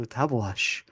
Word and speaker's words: Tabeguache: learned in researching this if you go to the Wikipedia page for tabash Peak it's got the little pronunciation thing there yeah yeah icon there yeah it's a little icon you could click on it and hear some guy go tabash um so and the